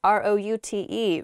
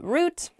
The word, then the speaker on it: route: the next word is root r-o-u-t-e root it's how i say it you might also hear the word pronounced route root r-o-u-t-e means the